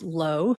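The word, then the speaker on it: 络: It's spelled L UO, but pronounced low.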